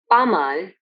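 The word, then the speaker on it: pas mal: means it's going okay pamal where s is silent which means not bad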